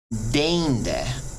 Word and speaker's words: deinde: Next up, EI is just like a long E pretty much. There's a little difference. You kind of extend it out a little more as EI than you would with long E.